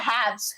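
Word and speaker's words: halves: जो सही होता है वो होता है हैव्स। है ना? एल इसमें साइलेंट रहता है।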